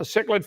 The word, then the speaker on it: cichlid: I would not pronounce it cichlid, but that's what they do, so it's called cichlid.